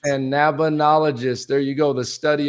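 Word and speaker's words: Cannabinologist: Oga, who is an emergency medicine doctor, but also you want to pronounce that, Doc? Cannbinologist. Cannbinologist.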